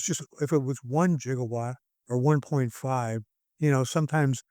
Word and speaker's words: gigawatt: But if you look it up in that dictionary you will see that both the soft G and hard G pronunciations are correct.